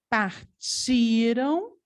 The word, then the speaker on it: partiram: de futuro então memorizar isso partiram é paroxítona partiram a sílaba tônica é o ti o partirão a sílaba tônica é o rão nós temos aí uma palavra oxítona então cuidado também é o pronunciar Vou colocar aqui que partiram colocar entre parentes aqui é uma palavra paroxítona é sílaba tônica pode escrever aqui também sílaba tônica é si partiram agora partiram é